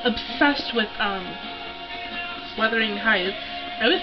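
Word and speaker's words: Wuthering Heights: a obsessed with um weathering Heights I always said that name wrong I always said like weather Worthington Heights I have it on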